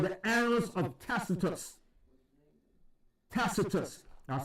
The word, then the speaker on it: Tacitus: And then you have another historical account by Tacitus.